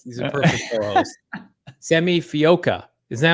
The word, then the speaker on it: Fehoko: Simi Fehoko. Is that how you pronounce his name? Fehoko.